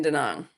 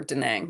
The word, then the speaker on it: Da Nang: I am in Da Nang or Da Nang, excuse me, is the correct pronunciation.